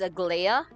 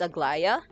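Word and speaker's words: Aglaea: I was pronouncing Agllaya as Agiaa. It's Agllaya.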